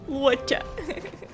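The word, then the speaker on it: Luocha: Locha! Is that right? I remember it. Let's go. Stay close, you two. Cloud Knight's Fu Xuan will guarantee your safety. Agora eu sei como pronunciar o nome dele. Wacha.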